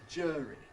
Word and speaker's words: jury: So jury, or does it rhyme with neither of those?